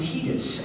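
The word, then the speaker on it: Tidus: And I played a young man named Titus, and it is pronounced Titus, not Titus, but I will let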